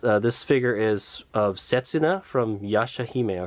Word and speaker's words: Setsuna: we get there but i think this says setsuna setsuna right right one two three syllables yeah that's sensitive okay